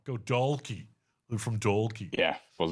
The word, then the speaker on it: Dalkey: They just said Dalkey instead of Dalkey. Just pronounce the L. Go Dalkey.